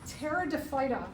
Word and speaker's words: pteridophyta: This is called pteridophyta. These are the ferns. The P is silent.